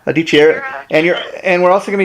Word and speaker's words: Dichiera: Am I pronouncing your name right there, Melisa? Yeah, Dichiera. Dichiera.